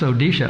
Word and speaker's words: Odisha: It's kind of like pronounced the same way, but it's spelled differently. It's Odisha, O-D-I-S-H-A, instead of O-R-I-S-H-A.